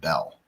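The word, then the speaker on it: Beal: that for sure because they have a road that is spelled b-e-a-l and they call it bell it's not bill oh that's hot so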